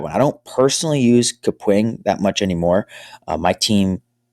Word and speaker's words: Kapwing: the go was to use a software called kapwing it's spelled like cap Wing but with the K